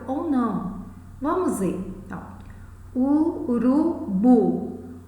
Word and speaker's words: urubu: Então, urubu. Onde recai o acento fonético? Qual é o som mais forte? Bu. É uma palavra oxítona, mas não necessariamente ela leva acento.